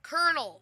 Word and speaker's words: Colonel: Colonel. That's how you pronounce Colonel.